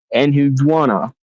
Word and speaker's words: Enheduanna: the Sumerian high priestess Enhudwana, or I guess is how you would pronounce it.